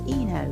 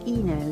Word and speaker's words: Ino: suffering from a rare genetic condition known as Eno, which makes it look thus.